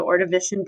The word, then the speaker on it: Ordovician: You pronounce it Ordovician period, but you're going to be working with